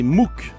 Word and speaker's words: MOOC: à tous vous nous parlez ce matin des mou alors ce sont des nouvelles plateformes d'enseignement via